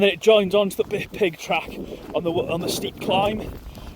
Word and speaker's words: Pyg: The Cambrian Way follows the Pig track. PYG is how you spell it, pig.